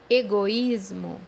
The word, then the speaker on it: egoísmo: مثال عندنا كلمة أنانية بمعنى egoísmo, egoísmo, زي ما انت شايف في كلمة إيجويزمو تم فصل المجموعة الحرفية لجزئين، حرف الأو مع جزء وحرف الإي مع جزء تاني.